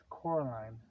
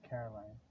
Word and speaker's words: Coraline: night with his tummy it's Coraline not Caroline she she corrected her in